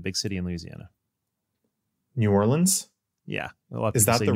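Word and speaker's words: Orléans: Orleans.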